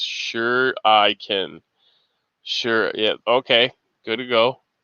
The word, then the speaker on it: shuriken: shh anonymous american says shuriken ish is pronounced sure i can sure yeah okay good